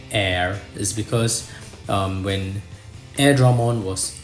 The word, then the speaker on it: Airdramon: Air Dragon so that's air Dramon so but the Japanese pronunciation is what I'm going to go with I think they call